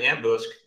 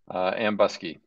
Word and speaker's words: Ambusky: And their CEO is Aaron Ambusk. Did I pronounce that properly, Aaron? Ambusky. Ambusky, sorry about that.